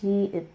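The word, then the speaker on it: 지읒: So the name is jiet, jiet.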